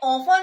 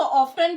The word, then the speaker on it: often: ये ऑफन होता है, यहाँ पे जो टी का वर्ड है वो साइलेंट है, ठीक है। ऑफन, इसको ऑफ्टन भी कुछ लोग पढ़ते हैं, but this word is ऑफन।